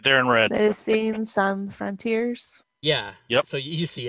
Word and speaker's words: Médecins Sans Frontières: Médecins Sans Frontières. That's how you have to say it with a French accent. It's Médecins Sans Frontières.